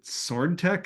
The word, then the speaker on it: SwdTech: so you have to tell me how to pronounce the name of your company is it sword Tech is that like the intent s swd yes